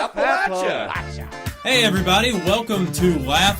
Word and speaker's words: Appalachia: There's two ways to pronounce this area for some people. There's Appalachia and Appalachia. Appalachia.